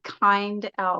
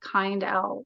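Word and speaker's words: Kindell: name isn't that funny but I always say kind L like people would ask how to spell it kind L and I came into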